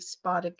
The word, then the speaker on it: spodic: And then spodic, or some people say spodic. I was brought up to say spodic, but I believe spodic is the correct pronunciation, is alluvial humus and